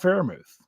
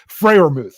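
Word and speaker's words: Freiermuth: like zach gentry and pat pherimouth butchered his name freyrmooth there there i got it right um but if you're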